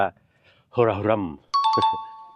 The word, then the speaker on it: คาราโครัม: แล้ว ครับ โครา แต่ ที่ นี่ เ ไม่ ออก เสียง ตัว K นะ ครับ เ ออก ว่า โฮราฮรั่ม นะ ครับ แต่ วัน นี้